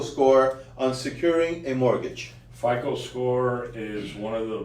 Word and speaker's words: FICO: We call it FICO. FICO. Right. Everybody repeat after me. It's FICO, the FICO scores. What is the true impact of your FICO score on securing a mortgage? FICO score is one of